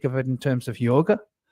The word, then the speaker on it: yoga: it in terms of yoga yog yog is how it's pronounced in the west we call it yoga um so yoga which